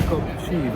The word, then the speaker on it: Kopchiva: We have to pronounce it Kopchiva, I was told by the Czech colleagues.